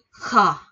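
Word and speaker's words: ㅋ: 11 của mình là chữ khờ. Khờ. Khờ, khờ giống khờ khạo ở Việt Nam mình nha, khờ.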